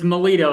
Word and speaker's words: Milo: to screw it up it's molo it's like military with an O instead of an IA I would have got